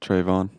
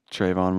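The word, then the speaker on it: Trevon: to watch was uh stefan diggs and uh trayvon or am i am i saying it right yes that's stefan trayvon diggs yeah there's brothers yeah stefan and trayvon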